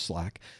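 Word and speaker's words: SLAAC: SL L AAC. That's how we pronounce SL AAC apparently, which is Slack.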